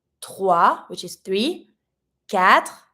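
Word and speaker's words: quatre: X which is three cat careful you don't pronounce the U Cat s the X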